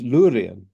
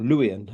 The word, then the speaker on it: Luwian: had their own language, which was Lurian, or Luwian as it's pronounced.